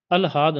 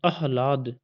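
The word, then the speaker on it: आह्लाद: आंगन अंगन ठीक है अलहा द नहीं अहला द ठीक है लाद आना चाहिए इसके लास्ट में उच्चारण अह हमेशा मैं कह रहा हूं अह लाद क्लियर अरुण अहवान ठीक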